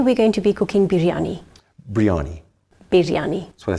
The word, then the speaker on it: biryani: That's the Western way of saying it. Okay, how do you say it? It's not biryani, it's biryani. Biryani. Yes. Oh, you got to do that. Yes. You've got to roll the R.